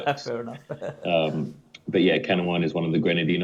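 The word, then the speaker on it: Canouan: most people couldn't even tell you how to pronounce if they saw it written down. It's called Kanawan.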